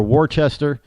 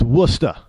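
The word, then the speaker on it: Worcester: like wora I mean if you say you know warer or warchest they look at you like you got two heads around here they get kind of mad at you it's wora well it's not wora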